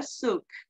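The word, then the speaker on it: souk: a visit to a suk it's pronounced suk let's read aloud about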